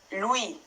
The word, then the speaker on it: lui: will, and you find that in words like him, which is lui, lui. So you hear that lui, ui, lui. And also in the word nui, nui.